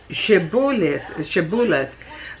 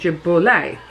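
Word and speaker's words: Shibboleth: If he said no, they would tell him to say Shebuleth, but he said Jebolith. Because he could not pronounce it correctly, then they would grab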